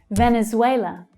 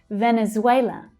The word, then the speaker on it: Venezuela: Venezuela. Venezuela. Notice that in English, the pronunciation of that V is V, V. Instead of B, Venezuela, it's V, Venezuela.